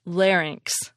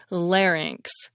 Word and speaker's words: larynx: y and X and it's pronounced larynx larynx it's Greek and probably comes from